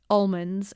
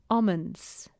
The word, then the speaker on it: almonds: I would have said almonds, the British way, where you don't pronounce the L.